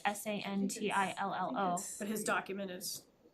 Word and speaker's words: Santillo: then I would make a motion to appoint Christian Santillo to our communication advisory committee. Second, Thank you. And just, I think for the record, it's Cantillo, or is it Santillo?